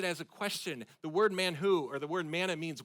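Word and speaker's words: מן הוא: The word mana comes from the Hebrew word man who or man who you got to kind of spit in the back of your throat to pronounce it.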